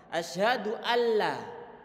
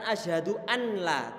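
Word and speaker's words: أَشْهَدُ أَنْ لَا: maka belum diatom dituangkan asyhadualla bukan Asyhadu anla tapi asyhadu alla lonya langsung dihilangkan kemudian kita tes degan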